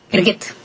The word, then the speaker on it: Kirgit: Kirgit. How do you spell that?